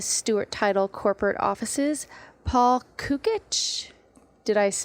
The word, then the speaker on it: Cukit: guest in the Stuart Title Corporate Offices Paul cukit did I pronounce that correct you were perfect on that